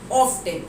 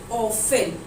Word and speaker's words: often: ऑफ्टन totally गलत है क्योंकि यहाँ पे टी जो है वो साइलेंट हो जाएगा, इसलिए इसका जो सही प्रोनाउंसिएशन होगा दैट विल बी ऑफन, क्योंकि यहाँ टी जो है साइलेंट हो गया है.